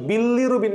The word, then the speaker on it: bilirubin: ওই বিলিটা একবার উচ্চারণ না করে তুমি একটু মাঝখানে গ্যাপ দিবা, বি লিরুবিন, বি লিরুবিন, বিলিরুবিন। তাইলে আর তোমার ওই ডাবল এল নে পেঁচাবে না, কারণ উচ্চারণ করার সময় বিলিরুবিন টাইপের একটা ভাইব আমার জিহ্বার মধ্যে চলে আসে, তাই না?